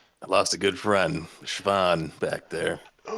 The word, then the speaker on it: Siobhan: Siobhan. She Oh, how do you spell that? Uh, I don't know. But probably with very little vowels. It's like a sh Van and then stucker.